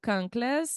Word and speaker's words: kanklės: for those that might not know yes so conas I'll spell it k a n k l s conas